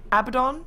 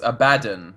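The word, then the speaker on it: Abaddon: been told cuz yesterday I got criticized for pronouncing abdon I I called him abdon okay but and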